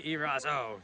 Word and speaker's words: Eraso: questions and more answered in today's episode erazo did I say your last name right that's